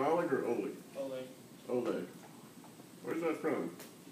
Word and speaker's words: Oleg: You pronounce your name Oleg or Oleg?